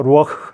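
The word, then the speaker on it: רוח: 히브리어로는 어 우아악 와 발음이 어떻게 되요 하니까 루왁 하니까 숨이 팍 나가요 그 다음에 생명은 하나님의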